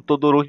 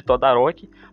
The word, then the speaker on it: Todoroki: Tem alguns momentos que uma pronúncia ou outra ficou um pouco estranhas, como numa cena onde o Lida chama o Todoroki de Todaroki, mas isso não exclui o bom trabalho dos dubladores.